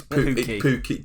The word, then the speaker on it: Pukki: If I pronounced that right, yeah? No, Pookie. you haven't. It's Pookie.